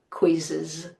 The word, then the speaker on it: quizzes: We can't now add another Z and make it plural. Now we pronounce the E. Quiz quizzes.